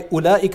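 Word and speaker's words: أولئك: ever considered this, but why ulaika is written with a silent waw. Right? Ulaika, and you don't say ulaika, that waw is silent.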